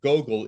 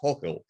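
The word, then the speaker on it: Гоголь: you mentioned you know nikolai gogol is pronounced in russian but in ukraine it's nicole like hulkel because we take the g and take it h and that's a point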